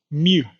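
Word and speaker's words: μ: the Greek alphabet and we pronounce this as Mu so the mean mu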